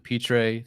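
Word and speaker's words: Pitre: five i have jalen petrae that's how you say his name uh from baylor and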